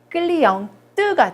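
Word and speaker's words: cliente: 그래서 얘를 발음을 해주는 거예요. 발음이 살아납니다. 그래서 끌리영 뜨가 돼요. 여성형이 되면서 발음이 변화가 생기는 거예요. 그래서 발음이 되지 않던 끝자음이 이제 발음이 되는 거죠.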